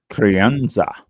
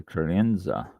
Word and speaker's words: crianza: Okay, let's see how to pronounce this. Crianza.